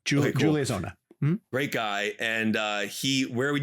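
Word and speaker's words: Onah: Am I pronouncing his last name right? Ona. Okay, cool. Julius Ona.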